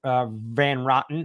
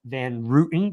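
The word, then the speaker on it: Van Roten: think that I think van van rotten or van Rootin depending on how you want to pronounce it um just absolutely brings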